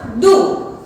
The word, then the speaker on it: deux: अब यहाँ पे भी आप देख रहे हैं स्पेलिंग क्या है, DEUX। ड्यूक्स नहीं पढ़ना, डू।